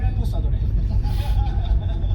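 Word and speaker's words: reposado: 그래서 제가 이거 멕시코에서 50년대 물어봤더니 발음이 그게 아니래요. 레포사도래.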